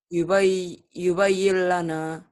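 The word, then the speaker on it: يُبَيِّنْ لَنَا: Yubayyin lana. Melebur tapi jangan pakai Dengung. dengung. Jangan ditahan.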